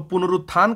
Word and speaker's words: पुनरुत्थान: अगर इस तरह से लिख देगा तो क्योंकि उच्चारण हम लोग कैसे करते हैं? तो पुनरुत्थान करते हैं। क्या करते हैं? पुनरुत्थान तो न के तुरंत बाद रू आता है।